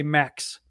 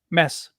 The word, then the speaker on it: Mads: my name which is the real way to say it is mess oh like no d sound at all mess yeah all right